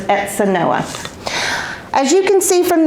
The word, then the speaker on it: Etzanoa: and by the way the Z is pronounced an S so it's exa Noah as you can see